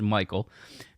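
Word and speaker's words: Michal: I know it's pronounced Michael it looks like Michelle and we want to be Michelle but it's pronounced Michael because she worshiped idols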